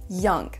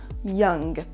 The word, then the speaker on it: young: a M et G, ça se prononcera exactement comme dans le mot sing, sing, le mot chanter. Donc c'est vraiment un son ng à la fin, young, young.